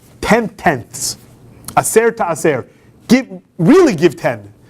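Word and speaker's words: עשר: That's, now, in Hebrew, the letter that's pronounced as the s is also the same letter that pronounces a sh. So, aser, if you change the middle consonant to sh, the sh sound, it's asher.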